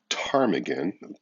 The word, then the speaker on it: ptarmigan: environment number 13 a ptarmigan P is silent in that question I have a feeling